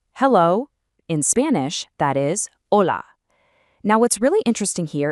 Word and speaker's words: hola: In Spanish, that is hola. Now, what's really interesting here is that the H is totally silent. It's literally just hola.